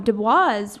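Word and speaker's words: Du Bois: Booker T Washington w eb Dubois I think it's how you say his name he was a competitor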